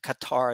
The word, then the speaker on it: Qatar: right so you have Qatar here uh cutter they call it but I uh Qatar I think is the proper pronunciation um that might be